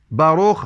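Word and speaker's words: ברוך: الملك ينطق في الكف تنطق فيه بركه باروخ هاشيم يعني مبارك اسم الله يعني باروخ باروخ يعني مبارك فالكاف تصبح خاء في النطق والا هي تكتب كافا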